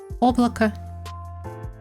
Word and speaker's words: облако: O, which is non-accent, is the same as non-accent a, which is also a small a. And it is, the overall pronunciation is облако. Small a and small a.